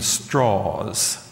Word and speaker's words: Strauss: Doc from Mr um it's it's spelled Strauss but he pronounced his name straws from Mr straws that I thought this